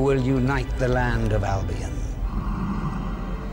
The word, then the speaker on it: Albion: And you pronounce Albion like that, all right?